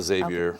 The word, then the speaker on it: Xavier: Let's see, Gethin, do you pronounce the X? Or No, Xavier.